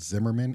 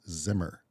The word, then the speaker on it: Zimmer: of its last name it's not Zimmerman it's just Hans Zimmer um I fell victim